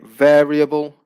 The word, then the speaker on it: variable: on the first syllable if we say variable the stress also stays on the first syllable okay so those are